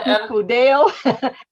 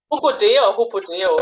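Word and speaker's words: ὑποδέω: Hupodeo. Hupodeo. Yeah, hupodeo. Okay, and your feet shod, or hopodeo, with the preparation of the gospel of peace, shalom.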